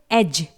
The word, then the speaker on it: edge: यहां पर भी सेम कंडीशन है, G से पहले D आया है जो कि साइलेंट है। इसके बाद है एज, EDGE।